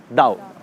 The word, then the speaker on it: Tao: हम इसको पढ़ते हैं तो इट इज़ ताओ, TAO, बट we pronounce it एज दाओ।